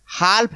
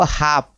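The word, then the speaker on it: half: से बोल जाते हैं तो आपको पढ़ना क्या है हाफ पढ़ना ये एल क्या है साइलेंट है तो हाफ हाफ मीस हाफ मीस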